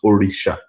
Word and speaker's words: orisha: And the pron the correct pronunciation is orisha. Oricisha. You said that is no. You said orisha.